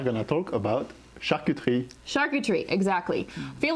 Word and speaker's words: charcuterie: i just pronounce it okay so three syllables sharky tree okay like if you want to be super frenchy it's like shark you tree because the french they love this like sound coming out of their